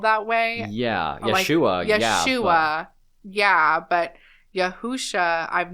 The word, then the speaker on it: Yeshua: say that there is absolutely no evidence that yahushua is the correct pronunciation and it really is Yeshua I just thought that was really interesting cuz